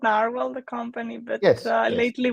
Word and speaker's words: Nrwl: Forgotten language from talking it's nrwl I think yeah it's it's called narwhal the company but yes